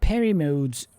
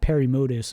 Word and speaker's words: Perimodes: Chimera, Perimodes, Uri, and Gillimer spent the night rounding up the unfortunate Wolven Chimera until only one remained. Perimodes... you probably pronounce that Perimodus, actually.